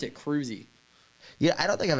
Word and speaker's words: Kruse: It's spelled Krause? Krause, isn't it? It's Kruse. That's Krause. That's Kruse. See, but it's pronounced Kruse. Okay. See, that's the first time I've ever heard someone pronounce it like that. Usually You people made it make fancy. it a long E.